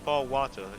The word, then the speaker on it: Gibraltar: As a matter of fact, I am planning Gibraltar, yeah, Gibraltar. Same thing. It's like the British say ball water.